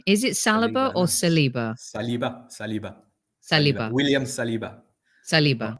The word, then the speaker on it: Saliba: There was definitely there were definitely problems, and maybe I should just get over it, as I think Saliba and Arteta have, and move on and enjoy a bright future, hopefully together for many years.